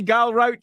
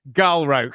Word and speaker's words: Galrauch: Galro, not Galro because screw pronouncing it with a ch because I don't want to have Gal the grouch in the corner.